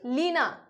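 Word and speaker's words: Lena: पहले आपको पढ़नी है लेक अ यह नदी लीना ठीक है लीना यहां पे स्पेलिंग है एल ई एन ए इसको लेना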